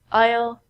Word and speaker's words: aisle: also sound like this the s in these words are so we don't say easel and I so we say aisle aisle aisle this aisle is a